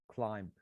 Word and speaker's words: climb: but james is correct if you check the pronunciation in british english the last sound is not bur but the last sound is more so it is a bilabial but it is because